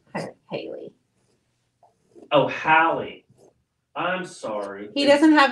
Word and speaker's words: Hallie: Oh, Hallie. I'm sorry. He doesn't have his glasses on. No, no. She told me how to pronounce it. H-A-L-L-E-E. Hallie. Not Haley. Because I'm saying it with a Y.